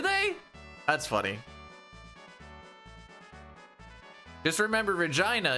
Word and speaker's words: Regina: Just remember, Regina is the city that rhymes with fun.